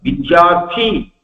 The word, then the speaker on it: வித்யார்த்தி: வித்யார்த்தி அப்படின்னா வித்யை விரும்புபவன் என்று அர்த்தம். ஆவலோட வித்யை கற்றுக்கொள்ள வேண்டும் என்பவனுக்கு வித்யார்த்தின்னு பேரு. மகா பிராணத்தோட சொல்லணும். அல்ப பிராணத்தோட சொன்னா வித்யை எவனுக்கு கஷ்டமோ, வித்யை பீடையாக நினைக்கிறவன் எவனோ, வித்யை வெறுப்பவன் அர்த்தம். தமிழ்ல உச்சரிக்கும் போது நாம் அப்படி உச்சரிச்சிடறோம்.